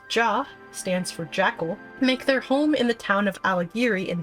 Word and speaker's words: J: The J tribe, pronounced Jah, stands for the Jackal, and they make their home in the town of Ala Ghiri in the Peaks, Gyr Abania.